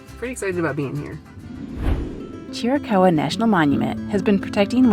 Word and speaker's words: Chiricahua: I think it's pronounced Chiricahua. Actually, I thought it would be Chiricahua, but I did look it up, so we said it right.